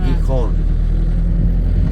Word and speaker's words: Gijón: perché c'è l'accento, Gijón.